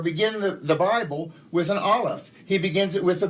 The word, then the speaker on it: aleph: Beit, ba, resh, r, aleph. They actually say it's a silent letter, and you don't. It sort of gives the A sound.